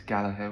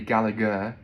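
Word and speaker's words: Gallagher: my pronunciation so um if you have the surname galaha in Ireland it's galaher with a soft um in England it would be galagar uh in Scotland I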